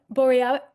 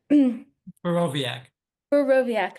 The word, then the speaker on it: Borowiak: Bore how I'm I'm mispronouncing your last name. Boviaakoviaak thank you is a political scientist at Habberford.